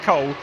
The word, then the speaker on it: Cool: We've got Hott and Cool, although I'm told it's pronounced Cole, but it is Damir Hott in the number 50 car who's the first driver to set a benchmark time.